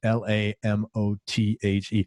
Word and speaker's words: Lamothe: trying to figure out i thought your name was french i was like how the hell are you and i and then i think i heard you pronounce on an interview something i was like okay it's just lamothe i was like i